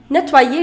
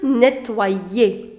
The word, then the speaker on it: nettoyer: This is nettoyer. If you know what here, over here, this Y changed into I. So this combination, in French, OI, the sound of OI is oua.